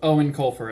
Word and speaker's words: Eoin Colfer: I believe that's how you say his name. I think he's Irish, and it's kind of hard for me to say. But I think it's pronounced Eoin Colfer. At least that's how it sounds like he says his name to me.